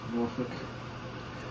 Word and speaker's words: Norfolk: Norfolk. It's so weird how they pronounce those Norfolk. It's folk. It's spelled folk, but it's pronounced fuck.